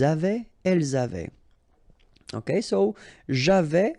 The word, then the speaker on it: j'avais: Okay, so j'avais, final S not pronounced.